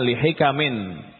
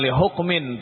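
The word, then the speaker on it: لِحِكَمٍ: Itu dibacanya li hikamin. Ya. Bukan li hukmin tapi li hikamin adidatin wa fawaida katsiratin.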